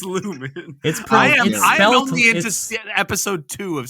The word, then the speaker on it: Lumon: I can't let lumon slide right Lumen it's Lumen only into episode two of season 3 or season it's spelled lumon it is pronounced Lumen uh like Pokemon yeah Pokemon but yeah po